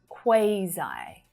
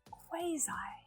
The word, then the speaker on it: quasi: This one, quasi, quasi. My mind has been blown. I thought this was quasi, quasi. But then I looked it up in the dictionary and I'm quite wrong. I've been pronouncing it wrong my entire life. I feel like this is so often pronounced as quasi.